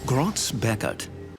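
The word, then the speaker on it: Groz-Beckert: i prefer to use i think it's pronounced grotz beckett when you are embroidering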